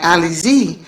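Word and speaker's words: Alyse: She told me that her name was spelled A L Y S E, but you pronounce it like Ali Z.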